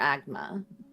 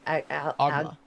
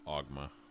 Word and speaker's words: Oghma: Not Denier, Agma, right? Ogma. Agma. I can never pronounce it correctly. Sorry, that was someone from chat saying Denier. Yeah, it's OGHMA. Oh, is it? OGMHA? No, OGHMA.